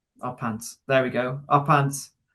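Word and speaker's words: Y Pant: It's Y and then P-A-N-T. A pant. Our Pants.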